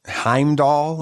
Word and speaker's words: Heimdall: of the guy that the british time doll heimdall yeah that's how it's pronounced okay i i don't remember with it